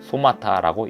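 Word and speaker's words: σώματα: 신약 성경에 쓰인 헬라어로 이 구절에서 몸은 소마타라고 읽힙니다.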